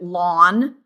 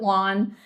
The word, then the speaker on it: ln: It is the natural log and often we pronounce it lawn. Okay. Okay. Okay, so we pronounce it lawn and it is the